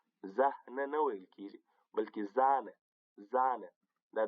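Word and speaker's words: Sahne: په قوس کې مې هغه تلفظ ورسره لیکلی دی. زومر یعنې دوبی. زومر. صحیح؟ یا هم لکه زانه.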